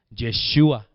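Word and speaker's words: ישוע: ¿Cómo se dice? Josué en hebreo, Yeshua.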